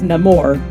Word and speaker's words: Namor: my enemies call me Namor he pronounces it a little bit differently himself like he says no more just because they're changing